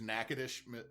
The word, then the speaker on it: Natchitoches: The problem is is there's Nacadesh Louisiana and Nacadocious Texas and they're not spelled the same but they sound similar.